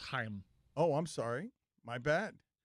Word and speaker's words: Chaim: It's pronounced Chaim.